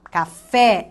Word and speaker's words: café: Opa, café, essa é a sílaba tônica.